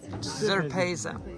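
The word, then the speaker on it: Trpejca: Zerpeza.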